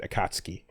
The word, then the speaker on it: Akatsuki: sub and then uh I would say Akatsuki and then it turned out in the dubs later on on tunami everyone said akatski okay and so then it was weird to hear someone not say akatski if you've been used to it in English but I'm